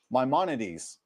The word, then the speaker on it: Maimonides: The following list follows the opinion of Maimonides, also known as Rambam, a legendary scholar, legendary rabbi, as he lists them in his magnum opus, the Mishneh Torah.